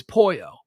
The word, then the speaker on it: pollo: uh so you know correct my pronunciation it's poyo right yeah pollo yeah you know